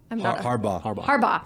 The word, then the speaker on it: Harbaugh: Harbaugh.